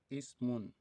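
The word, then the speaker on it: اسم: the ibnun, so we have it to be pronounced as this: wabenun, wabenun, ibnun, ibnun, wabenun, wabenun. Okay, another one is also ismun, just as we have it here.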